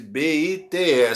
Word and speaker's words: bite: Se eu tirasse na palavra bite, B-I-T-E, se eu tirar o E, né? Eu não pronunciei o E, eu falei bite, mas se eu tirar o E, vai ficar B-I-T, e aí a pronúncia vira beat.